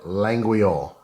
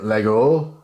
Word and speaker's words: Laguiole: I don't even I you don't even pronounce the G and I'm not even gonna begin to uh pretend like I know how to pronounce it but the other one is the Lego Lego hold on hold